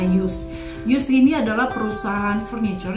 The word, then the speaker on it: JYSK: Dulu kita nggak pernah bisa tahu gimana cara bacanya. Ternyata setelah kita pindah ke sini, cara pronounce-nya adalah JYSK.